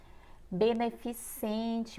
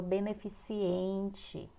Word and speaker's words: beneficente: segundo a norma culta beneficente muitas pessoas falam beneficiente muitas pessoas param cérebro